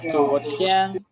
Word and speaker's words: 昨天: 昨天。昨天, recuerden, I-A-N es I-E-N.